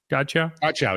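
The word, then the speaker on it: Godchaux: They traded for Devon Godchow. Is that how you say it? Godchow? Godchow, yeah.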